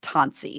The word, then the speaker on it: Tensie: It's pronounced Tensie, so think of it as an O.